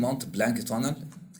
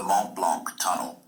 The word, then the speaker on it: Mont Blanc: يعني بص الكلمة دي Mont Blanc tunnel دي زي مكان بيعدوا منه.